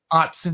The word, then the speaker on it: Autzen: $36 to get tickets at Autzen, however they pronounce it. Autzen, you had it right.